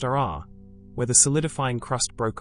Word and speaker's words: aa: Other areas are rough and jagged, called AA, pronounced RR, where the solidifying crust broke apart and formed clinkers and sharp fragments.